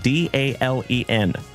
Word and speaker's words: Dalen: And I'll tell you, my name is spelled D A L E N. Like Dalen. Dale plus N. D A L E N.